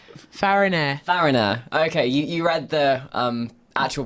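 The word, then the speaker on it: Farriner: It was a baker's shop on Pudding Lane, belonged to Thomas Farnier. Fariner. Okay, you read the actual pronunciation thing, and I was trying to Fariner, read yeah.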